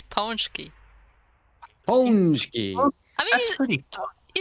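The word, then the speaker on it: pączki: It's Ponchki.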